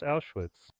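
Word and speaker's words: Auschwitz: There is the Polish name Austrians which in German is pronounced Awitz and the Poles demand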